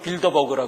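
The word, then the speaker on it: Bilderberg: 그래서 영어 발음으로는 빌더버그라 그래요. 빌대로 베르그 하니까 잘 모르는데 빌더버그.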